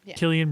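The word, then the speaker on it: Cillian: She really likes Sillian Murphy or Killian. Killian Murphy like the beer. I know. I keep messing with you. I know you do. It's spelled with a C, not a Kayla. Killian though.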